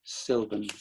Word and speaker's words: Sylvan: tiny little correction sure my name is pronounced sylvan ah i you know i was going to ask but you know what you know why if you think about how you spell susan s-u-s-a-n it's the same kind of theory if